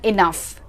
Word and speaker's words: enough: Words here are tough, rough and enough. So in all of these words, the pronunciation of OUGH is uff.